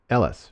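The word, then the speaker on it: Eilis: the color Ailish in the film and it's pronounced Ellis right but it's that's just it's Gaelic right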